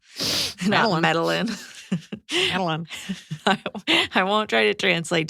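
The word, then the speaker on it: Medellín: won't try to translate I think it's pronounced medin yeah there's an accent there's two L's yeah medalin I won't try to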